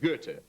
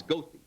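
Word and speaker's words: Goethe: say everyone knows that Gerta is the greatest German poet and everyone honors his name the street name for him in Chicago which they pronounce gothi but yeah true we've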